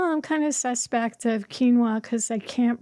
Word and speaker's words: quinoa: And then I was like, well, I'm kind of suspect of quinoa because I can't pronounce it.